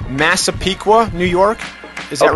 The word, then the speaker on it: Massapequa: We have time for one reader question, which is courtesy of Jacques, a neighbor of yours from, I hope I'm pronouncing this correctly, Massapequa, New York?